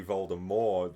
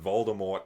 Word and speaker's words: Voldemort: said somewhere once that the T in Voldemort was actually silent. Um but then Oh, really? Okay. Yeah. So, it was meant to be Voldemort. The T was silent.